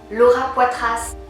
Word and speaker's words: Laura Poitras: Laura Poitras est américaine, mais elle a un nom français, fait que je le prononce à la française.